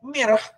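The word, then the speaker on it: myrrh: Dan mirah, ya mur ini bukan mur yang dikaitkan dengan baut ya, Bapak Ibu, beda. Ini mur sebenarnya terjemahan dari katanya mir, M-Y-R-R-H gitu ya. Mir, bacanya aja susah.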